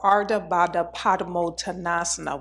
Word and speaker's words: Ardha Baddha Padmottanasana: Ardha Baddha Padmottanasana is pronounced Ardha Baddha Padmottanasana. Ardha Baddha Padmottanasana.